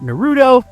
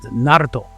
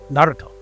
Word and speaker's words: Naruto: So he calls it Naruto. You know, he kind of rolls that R. Naruto.